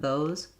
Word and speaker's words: those: If you hear a little bit of weak air, those, my Z starts with voicing and then kind of ends weakly with an S, then that's the correct way to say it.